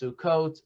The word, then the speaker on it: Sukkot: So the first thing is the holiday of Sukkot, as we know, is pronounced Sukkot, Sukkot.